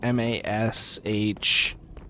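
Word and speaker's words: Mashle: If you guys haven't seen like and it's it's spelled like m- a s h uh l e, but it's I don't know how it's supposed to be pronounced. I've heard mashel, but in the show they just call him mash.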